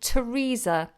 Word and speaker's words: Theresa: if it's voiced okay there are very few occasions where a th is not pronounced in this way for example the words Thames like the river in London pothole Thomas which is a boy's name and Theresa which is a girl's name now these particular example